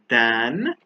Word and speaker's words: than: is taller than so th a is pronounced than and t e is pronounced then we use then when